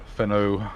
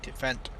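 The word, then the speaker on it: Fendt: If you can't pick up, I'll get a trailer, and I'll take my Feno down there. I'm assuming that's what I pronounce it. Oh, the Fent? F-E-N-D, Fent. Fent.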